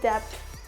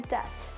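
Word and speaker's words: debt: बोलते हैं that B क्या है यहां पे साइलेंट है तो अब अगर कभी भी आप बोले डेप्ट तो डेप्ट नहीं बोलना क्या बोलना है डट TET next डाउट I have डाउट बोलते ना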